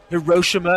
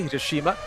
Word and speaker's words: Hiroshima: Mazda operates major production facilities in Hiroshima, as the Americans say, Hiroshima, Ofu, Japan, along with